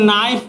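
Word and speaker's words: knife: देखिए इसमें के से तो लिखते हैं लेकिन नाइफ पढ़ते हैं के साइलेंट है।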